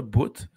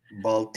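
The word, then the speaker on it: Boutte: Évidemment, nous autres, c'est le même qu'on le prononce, là. Boot. Boot. Les Américains vont le prononcer Bolte.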